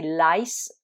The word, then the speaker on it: lice: mouse, et au pluriel c'est lice avec i qui se prononce I, comme dans mice, les souris.